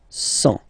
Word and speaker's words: cent: Remember, final T not pronounced. 100.